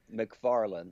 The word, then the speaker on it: McFarlane: So I've learned it's McFarlane, but still every once in a while. It's definitely McFarlane.